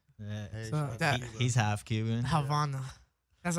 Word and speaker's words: Havana: Havana. That's how you say it. Havana.